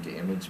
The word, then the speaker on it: D'Image: We want to welcome Elvia from D'Image Medi Spa.